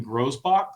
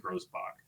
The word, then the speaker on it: Grousbeck: What vowel Grousbeck feels like the way it probably is. It's spelled Grousbeck, but I'm not surprised that the rich guy's telling me to pronounce it Grousbach.